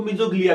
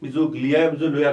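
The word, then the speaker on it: mesoglea: और इनकी एक जो सेल्स है उसको मीजोग्लिया भी कहते हैं, मीजोलोया कहते हैं। एक्चुअल प्रोनाउंसिएशन मीजोग्लिया होता है, ठीक है।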